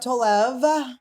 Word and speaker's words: Tolev: on two now you've been on two Steph Tov thank you am I saying it correctly you